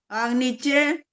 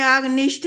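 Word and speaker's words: आग्नीध्र: लिखा है चेक करो अ आ की मात्रा हो गया आगे है ग आधा इसके बाद है न न में बड़ी की मात्रा आगे है ध और ध के नीचे र बनता है जो ध्र अग्नि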